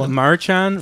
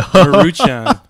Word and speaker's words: Maruchan: Marchan? Mar- I got to open this I up. I forget how you pronounce it.